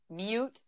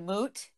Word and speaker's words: moot: Well, I could tell you, your brother says the word mute instead of moot when you say it's a moot point.